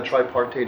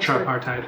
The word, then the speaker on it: tripartite: I will open uh up the floor to public comment on exclusively on the tripartate agree. Uh am I pronouncing it? Tripartite agreement.